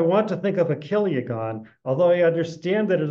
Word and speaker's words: chiliagon: So a kiliagon, I've sometimes heard people pronounce this chiliagon, which is funny, but it's not right. This is a cod, it's a Greek word.